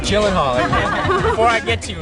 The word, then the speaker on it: Gyllenhaal: say it for you so you know it jillen Hall Jen jillen Hall everyone it's jillen Hall before I get to